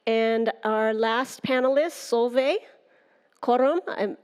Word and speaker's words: Korum: And our last panelist, Solveig Korum. I'm not sure if I'm pronouncing your last name correctly. Welcome. Thank you so much. You're pronouncing it perfectly.